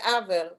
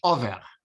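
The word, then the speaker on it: עבר: So you pronounce it aver, okay. No, I pronounce it in Yiddish, over.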